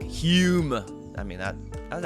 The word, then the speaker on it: Hume: my Scottish impression there Hume but uh but Scholars say that originally his last name was spelled with an O but it was still pronounced Hume but it was spelled